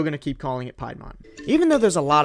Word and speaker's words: Piedmont: North Carolina's Piedmont biome is home to very few snakes. Alright, I get it. Zachary pronounces his words funny. I pronounced it Piedmont when it's supposed to be Piedmont.